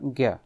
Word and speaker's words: ज्ञ: ध्यान रखना है कि इसमें ज और य इन दोनों के मिलने से ज्ञ बनता है। सामान्यतः अभ्यास ज्ञ ही उच्चारण करने का है, लेकिन इसका सामान्य अगर सही उच्चारण किया जाए तो इसका उच्चारण ज्ञ कहलाता है, जैसे ज्ञान, इस प्रकार उच्चारण किया जाता है।